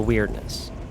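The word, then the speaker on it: Wyrdness: The weirdness with a Y. I know it's kind of a goofy name when it's pronounced like weird, like odd, but the concept is fine enough.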